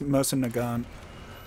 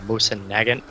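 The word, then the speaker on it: Mosin–Nagant: one I'm using too wonder how bad like we're butchering that name I think it's MOS nant yeah yeah was I heard you pronounce it like that and then MOS Nagant and I've pronounced it mossan Nagant before oh look at these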